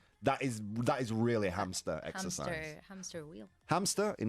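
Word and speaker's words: hámster: Oh, Es uno de los pocos casos en los que la H del español no es muda, se pronuncia como una J, no decimos Que hamster.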